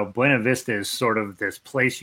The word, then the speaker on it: Buena Vista: don't live in Colorado in Colorado they pronounce Buena Vista Buena Vista and they have this big complicated story about why they pronounce it Buena Vista and it's wrong but they have a reason that they claim that is why you pronounce it Buena Vista so it's I always call it Buena Vista it makes a man